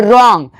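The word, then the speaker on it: wrong: डब्ल्यू आर ओ एन जी रॉन्ग लेकिन डब्ल्यू का आवाज निकालना नहीं है। याद रखिएगा जिस भी वर्ड का शुरुआत डब्ल्यू आर से होगा उसमें डब्ल्यू का आवाज नहीं निकालना है।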